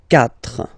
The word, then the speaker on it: quatre: Quatre. Okay? So remember that even if you get this u vowel here, basically you don't pronounce it, because that's the rule in French.